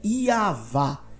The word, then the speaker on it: Yahweh: ele vai falar que a pronúncia correta é i avá e assim também Daniel Flame um acadêmico internacional chega a mesma conclusão analisando a questão gramatical fonética I avá E aí depois que